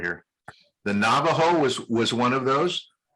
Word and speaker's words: Navajo: just so you can hear the pronunciation the navajo i'm gonna i'll highlight it right here the navajo was was one of those and the j is pronounced like a in english h so navajo this one is very difficult it's an it's